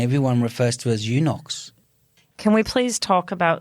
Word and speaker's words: Unox: So Wayne, can you tell me the correct pronunciation for your business? UNOX.